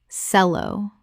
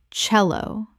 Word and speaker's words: cello: Common mispronunciation. Sello. Correct pronunciation. Cello. The CE makes a CH sound. The instrument name comes from Italian.